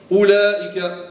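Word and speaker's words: أولئك: Comme ulaika, on ne dit pas hein, ulaika. Donc le waw aussi, il est supplémentaire, on le prononce pas.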